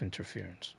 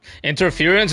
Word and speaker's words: interference: I always wanted to say interference, which also sounds like a real word. But it's not interference, it's interference. And I think it was